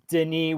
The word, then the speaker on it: Denis: If it's Dennis or Denis with one N, you usually pronounce it the French way. Yeah. If it's got two N's, then it's Dennis.